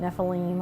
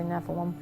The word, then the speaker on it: Nephilim: Some people pronounce it Nephilim, I say Nephilim.